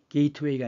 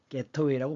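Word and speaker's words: gateway: 게이트웨이가 아니라 게터웨이라고 발음하는 거예요.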